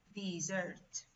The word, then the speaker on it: dessert: Y se pronuncia, pronunciation, dessert.